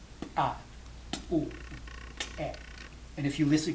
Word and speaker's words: txu: So in order to pronounce it accurately, the first step is to make a T sound as loudly as you can without breathing. So it'll be, okay? And then you add the vowel.